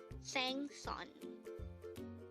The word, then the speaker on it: 생선: to combine the angle first of these two syllables to form the handle of the word sangsan and remember samsung means fish to be specific